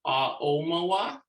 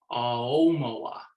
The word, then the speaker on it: Aomawa: level pronunciation, which is the preferred pronunciation, which is no glottal stop, which means you don't stop the flow of air in the back of your throat between the A and the O. So it sounds more fluid like this, Aomawa.